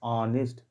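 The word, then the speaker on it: honest: लेकिन कभी कभी एच आप देखें आ का साउंड देता है, ऑनेस्ट।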